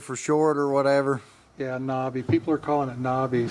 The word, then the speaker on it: NABE: Yeah, Nobby.